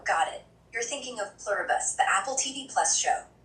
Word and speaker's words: Pluribus: Pluberus.